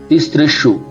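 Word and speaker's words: तिसृषु: फिर आप देखिए तीसृषु, तीसृषु, ती स नीचे रफा है तो उसका भी उच्चारण करना पड़ेगा, शु है तो तीसृषु, तो तीसृषु के बाद हम कॉमा लगा देते हैं।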